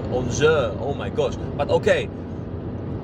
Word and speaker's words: Angers: Chociaż nie, mówi się Lille, bo dowiedziałem się niedawno, że na przykład taki zespół, który pisze się Angers po francusku, Francuzi mówią Angers, oh my gosh.